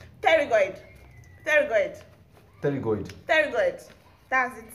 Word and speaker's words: pterygoid: Spell pterygoid. Pterygoid. Pterygoid. Pterygoid. That's it. Spell it.